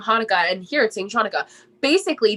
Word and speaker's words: Hanukkah: he was just saying hanukkah and here at singapore basically they could both be spelled the same way the the chanukah thing was an older way of spelling it but it is pronounced hanukkah but um that's what